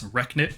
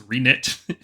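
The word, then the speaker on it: Reknit: have renit construct which some people pronounce wrecknit construct that's not correct it's re-knit they are bone constructs they're being knitted up again you can feel it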